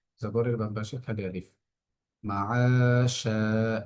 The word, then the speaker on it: معاشا: মাআশা, এখানে আইনের মধ্যে একাধিক টান হচ্ছে, কারণ জবরের বাম পাশে খালি আলিফ, শিনের মধ্যে হচ্ছে একই নিয়ম।